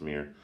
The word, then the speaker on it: Myr: As of now, Myr are only from, or I think people pronounce it Mir actually, but I usually pronounce it Myr, but I think it is pronounced Mir.